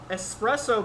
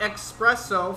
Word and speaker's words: espresso: okay leather yep earth espresso beans there you go not expresso for those that like to say it wrong black cherries which is